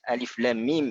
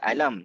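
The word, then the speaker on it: الم: Dan juga hikmah yang terakhir bagi alif lam mim ini adalah, iaitu Nabi SAW membaca alif lam mim itu secara ejaan. Alif lam mim, kita tak baca alam sebagaimana kita baca alam nashrah.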